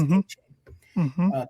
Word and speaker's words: Achane: Dolphins are without 2 running backs, so their third-round pick, Devon Achane, he said he wants it to pronounce Achane today, had 18 carries for over 200 yards.